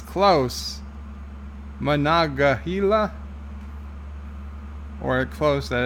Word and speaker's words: Monongahela: Okay, Thomas Potts is giving me the pronunciation. Monongahela. Monongahela.